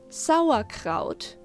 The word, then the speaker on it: Sauerkraut: jaw relaxed when making an ah and sound sour kraut means sour cabbage by the way i wanted